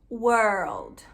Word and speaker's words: world: Mas em inglês não é tão difícil assim, ó, é world, world, tá?